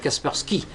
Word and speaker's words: Kaspersky: s'appelle Casper Sky puce qu'on prononce à l'anglaise Kaspersky et euh cet antivirus